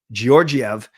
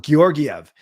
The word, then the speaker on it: Georgiev: John Shorthouse, Hard G calls him Georgiev. Brendan Batchelor on the radio called Soft G. Sorry. Shorthouse calls him Georgiev. And then Batchelor calls him Georgiev. Soft G versus Hard G.